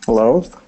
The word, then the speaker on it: loathe: It's the same TH sound. Breathe and loathe. The vibrating TH sound.